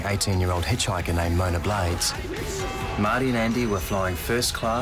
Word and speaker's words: Marty: So, Marty, rhymes with party.